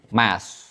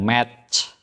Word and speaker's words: math: Math. Ya, math, bukan math. Kalau kamu bilang match, nanti orang dengarnya ini.